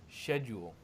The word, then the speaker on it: schedule: Yes, I just thought it was funny because it sounds like shed and Yule.